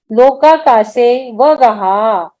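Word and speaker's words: लोकाकाशेऽवगाहः: अब अ जो है ना ये साइलेंट पढ़ना है, पूरा पूरा उच्चार अ का नहीं लेते कभी भी, बहुत सारी जगह आप सुनिएगा इसको। लोकाकाशे वगहा, ऐसा पढ़ेंगे इसको। अवगाह है, सही है, बिल्कुल 100% है, लेकिन उसको पढ़ते समय अ को साइलेंट रखना है, साइलेंट रखना इसको।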